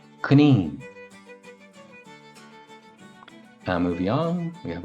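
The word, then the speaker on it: coinín: is the rabbish the Irish rabbish is Kine Kine Kine and moving on we have our prickly friend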